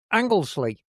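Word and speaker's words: Anglesey: So, how do we how do you pronounce this? Angley. Anglesley.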